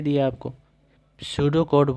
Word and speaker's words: pseudo: अब सूडो code, P silent हो जाता है, सूडो कोड, लेकिन लिखना है आपको पीसीडीओ, PSEUDO, पीसीडो कोड, ये याद रट लीजिए इसको।